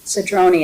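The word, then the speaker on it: Cedrone: Sedron is how it's pronounced.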